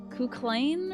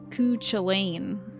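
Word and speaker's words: Cú Chulainn: It's because it reminds you of Kuklain, or what is? How do you say his name? I never knew how to say that in Persona 4 and 5. Because it's not Kuchulain.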